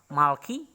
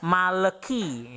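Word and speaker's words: מַלְכִּי: di akhir suku kata Malki maka tandas wa ini tidak dibunyikan e-jade jangan sampai membacanya maleki ya makhluk yg tidak ya tetapi Malki kita tidak membaca seperti itu contohnya begini ya jadi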